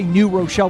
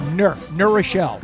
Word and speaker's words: New Rochelle: New Rochelle, for instance, and in New Rochelle, we don't say New Rochelle, we say Nur Rochelle.